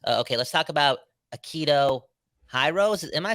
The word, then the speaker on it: Hirose: Okay, let's talk about Akito Hirose. Am I saying that name I think it's right? Hirose. Hirose.